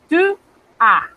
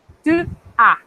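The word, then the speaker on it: tu as: Tu, a. Noten que la A no, la S, estoy pronunciando solo la A. La S no la estoy pronunciando. Tu, a.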